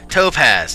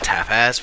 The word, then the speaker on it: topaz: freaking Say tap topaz topaz thank you topaz not tapaz what the hell toaz